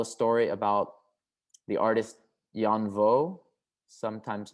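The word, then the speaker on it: Danh Võ: The third chapter of the performance, I tell a story about the artist Jan Vo, sometimes mispronounced as Dan Vo.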